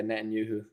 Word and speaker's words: Netanyahu: and you who say it right oh yeah Netanyahu I forgot someone said Andrew claims Jewish is